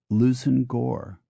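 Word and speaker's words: Leveson-Gower: resemblance to their spelling l v s o n hyphen g w r is Lucen Gore m a r j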